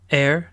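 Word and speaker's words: heir: Les mots avec les H silencieux, c'est hour, honest, honor, air, H-E-I-R.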